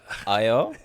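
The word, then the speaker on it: Ayao: Ayo, A-Y-A-O, Ayo. then Komatsu.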